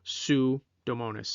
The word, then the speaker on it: Pseudomonas: third gen to cover sue domonis i know that's not how it's spelled but that's how it's pronounced that helps you remember